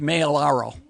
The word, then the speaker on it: Maiellaro: Technically, it's supposed to be pronounced Maiellaro.